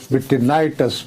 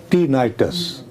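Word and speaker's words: tinnitus: सबसे पहली बात ये है कि मेरे से गलत प्रोनाउंस हुआ। ये जो बीमारी है कानों में जो हेलीकॉप्टर जैसी आवाज आती है इसको मिटिनाइटस बोला जाता है। मैंने गलबन क्या क्या नाम है? टीनाइटस। टिनाइटस अच्छा इसमें यह होता है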